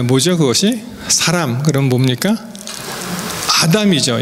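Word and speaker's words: אָדָם: 여기 우리 한글의 이 우자에 동그라미 뺀 우자에 해당되는 발음이 아 발음이 납니다. 그래서 이것을 읽으실 때는 여기 알레프거든요. 아담 이렇게. 이게 미음하고 비슷하죠. 히브리하고 우리 한글하고 비슷합니다. 여기 디귿에 해당되고요. 그래서 아담 이렇게 읽고요.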